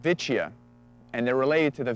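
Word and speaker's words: Vicia: these are actually called vicha and they're related to the vetes and so it kind of sounds like that vicha sounds a little bit like vet and that's a Latin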